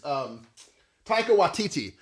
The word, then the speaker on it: Taika Waititi: It's Taika Waititi. It's all because I remember seeing Taika Waititi's in Watch your mouth, sir.